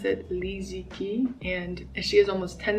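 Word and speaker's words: Li Ziqi: who lives in the country I believe you pronounce it Li Zi Qi and she has almost 10 million followers and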